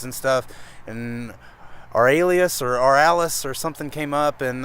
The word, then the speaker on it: Ouralias: So it's Ouralias is one word, Ouralias.